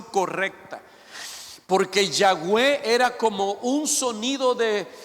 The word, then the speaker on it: Yahweh: tratamos de ser honestos, la pronunciación más correcta o más acertada, más cercana al nombre de Dios sería Yahweh. Póngalo, gracias, Dios lo bendiga, hermano. Eso sería lo más cercano. Yahweh.